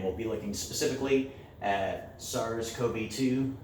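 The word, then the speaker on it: SARS-CoV-2: be looking specifically at SARS Kobe too I've also Ernest pronounced SARS Cove too but more recently I've heard Kobe - more often so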